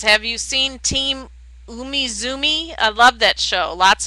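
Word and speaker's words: Umizoomi: pretty and green says have you seen Team Umizumi I love that show lots of patterns I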